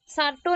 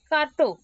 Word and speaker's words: Certo: सार्टो नहीं, कार्टो. Pronunciation is कार्टो बट लिखना है सार्टो, CERTO.